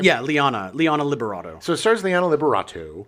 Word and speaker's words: Liana Liberato: Yeah, Liana Liberato.